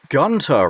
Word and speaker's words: Gunter: And the diary, right, is of Gabriel's grandfather, whose name is Gunter Ritter. I know it's pronounced Gunter, but we're going with Gunter.